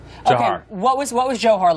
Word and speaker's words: Dzhokhar: at least sorry for is it pronounced Johar yes Johar what was what was